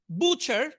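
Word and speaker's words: butcher: বুচার এখানে থ্রিটা উচ্চারণ হবে না, বুচার কসাই।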